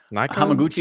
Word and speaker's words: Hamaguchi: Haiku Hamaguchi, maybe? Hamaguchi is correct.